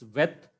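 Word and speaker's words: ב: That is, the major difference is without Dagesh is Vet, with Dagesh is Beth.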